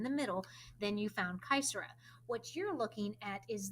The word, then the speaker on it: caesura: Caesura is a fun term because it's Latin. So if you have any experience in Latin, you've heard of this word. And it's a hard C because it's Latin.